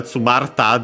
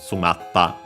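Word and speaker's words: 詰まった: Tsumari, to then add the ta, tsumarita, but then the i fell, tsumarta, difficult to pronounce for Japanese, so it became simply the doubling of the following consonant, tsumatta. So yeah, then we could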